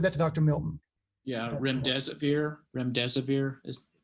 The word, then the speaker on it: remdesivir: Is there any update regarding the individual who is administered, and I'm not going to pronounce this correctly in advance, Remedesivir? I'll leave that to Dr. Milton. Yeah, remdesivir.